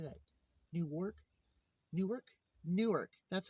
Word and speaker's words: Newark: Newark.